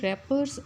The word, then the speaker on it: wrappers: Don't throw wrappers on the road. Wrappers में W जो है ये silent letter है.